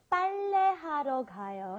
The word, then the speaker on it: 빨래하러 가요: Okay, today we used 빨래하러 가요, and I think the double B or the is really hard for foreigners to say because this isn't in our vocabulary.